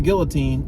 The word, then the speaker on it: guillotine: And when you're playing Samford and you're walking the guy to the guillotine, you need to chop the head off. I think it's guillotine. I don't think you pronounce the L's.